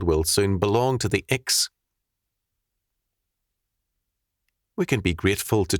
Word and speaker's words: Iks: The implicit humanism in all other cultures is carrying them down the road of the Iks (pronounced “Eeks”).